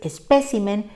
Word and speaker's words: espécimen: asocia con un plural resulta que el plural si tiene su fuerza en la y por tanto singulares espécimen y plurales especímenes encontramos también la palabra